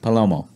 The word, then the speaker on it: Palomo: How do you pronounce it? Palomo.